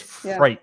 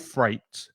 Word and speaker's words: freight: But if you take away the F and the R, you get the number 8, and that's the pronunciation. So it's freight. Yeah, just put FR in front of freight. It's in front of 8, and you get freight.